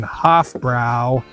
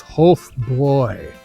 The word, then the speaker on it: Hofbräu: I've never been to any of them, but do not be caught like a Yank saying HofBrau. It is Hofbräu, as I can pronounce it in my best American accent.